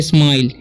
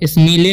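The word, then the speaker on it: smile: इसे पढ़ेंगे स्माइल, ठीक है, स्मीले नहीं पढ़ना है, स्माइल पढ़ना है, ठीक है, स्माइल।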